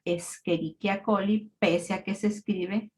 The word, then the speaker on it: Escherichia coli: una bacteria que ustedes ya saben que se pronuncia escherichia coly Pese a que se escribe como escherichia coli